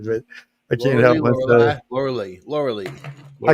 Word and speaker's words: Laura Lee: Laura Lee. Laura Lee. I call it Laura Lee. I think it's really Laura Live, but I call it Laura Lee. She's she's learned she prefers pronounced Lori Lee.